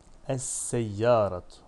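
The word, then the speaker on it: السيارة: Es-seyyaratu. Esse. Bak sine şeddeli okudum. Lamı hiç okumadım. Niye? Çünkü sin şemsi bir harftir.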